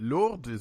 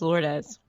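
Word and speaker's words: Lourdes: in English is it Lord is it lord lord it's actually a Spanish name is lordes yeah lordis okay hey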